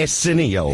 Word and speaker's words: Arsenio: I don't think you're pronouncing his name right. What is his name? Arsenio.